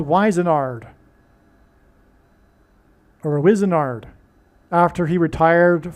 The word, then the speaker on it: Wizenard: So Wizenard rhymes with wizard.